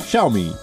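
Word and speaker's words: Xiaomi: zo me shall we the correct pronunciation is to show me SS s assist Gaius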